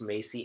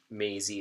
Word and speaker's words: Maisie: Though, and I was kind of confused because there's pronounced Macy and Maisie during the episode. Oh, was it? And the online stuff confirmed it is Maisie, Maisie, like Maisie Williams.